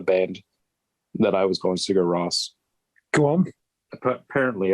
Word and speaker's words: Sigur Rós: that I was calling Sigur Rós. go on. Apparently, according to The Guardian, Sigur Rós. Rose. Sigur Rós. All right. Disappointing. Well, that's not, so that we can call this guy Sigur Rós.